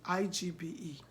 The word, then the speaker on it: Igbe: I-G-B-E.